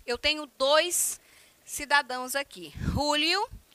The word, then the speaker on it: Julio: Então, Julio, com essa pronúncia, que para nós aqui seria Júlio, mas é Julio mesmo, tá certo?